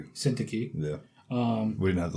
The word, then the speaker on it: Syntyche: Euodia and Syntyche. Syntyche. Yeah. We didn't have to look up how to pronounce that.